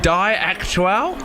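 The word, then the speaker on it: Die Aktuelle: Now, I don't know how to pronounce this. Is it Die Aktuell?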